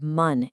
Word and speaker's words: 晩: The first character man is read man in Korean and it means evening.